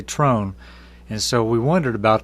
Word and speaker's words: Tron: a strange last name and uh we always pronounced it it don't matter how you say it tron's good but they always told us to say trone and so we wondered about that because it